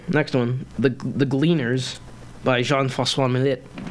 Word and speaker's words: Jean-François Millet: All right, so next one, the Gleaners by Jean-François Millet. What? That's how you pronounce his name.